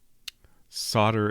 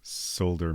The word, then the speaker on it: solder: Solder is always how I've heard it. And yes, solder makes more sense. Solder. Uh, it's interesting you write with a T. Solder. To me, that's a little bit more of a D sound, but I guess it is uh very subtle difference like the plant in Colossal Caves water.